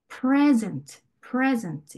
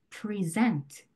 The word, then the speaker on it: present: 첫 번째 단어, 선물 단어는요, present. 이렇게 pre 부분에 강세가 가는 거예요. 네, 명사는 앞 음절에 강세가 간다고 했죠. 그런데 동사면 present 이렇게 표현을 해줘야 돼요.